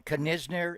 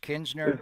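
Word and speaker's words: Knizner: To be clear, just the pronunciation, the N is silent after the K, so we're not going Kisner. It's just Kinsner is the way you pronounce it.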